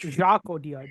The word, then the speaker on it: Jacques Audiard: I don't know how to pronounce his French. Jacques Audiard, yeah.